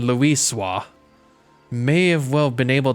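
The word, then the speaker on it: Louisoix: Archon Luisio may well have been able to shed light upon these mysteries. Or, they pronounced it Archon Luiswa, may have well been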